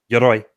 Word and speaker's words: Yoroi: Yoroi, to pronounce it correctly.